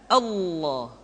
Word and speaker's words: Allah: level Allah dimanapun kapanpun maka lem yang terdapat pada level jalah tersebut mesti ditebalkan Allah Rasulullah kecuali kalau lafadz